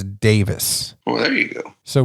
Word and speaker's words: Daviess: to let you know even though it's spelled d-a-v-i-e-s-s it's davis oh there you go